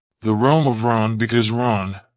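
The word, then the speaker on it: Rán: The realm of Ran, because Ran, pronounced in Norse as Ran, was a giantess who was the wife of Aegir, the giant and lord of the sea.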